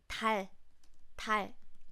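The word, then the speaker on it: 달: here are some examples then I have this word Tal it means Moon please listen carefully to my pronunciation next word that I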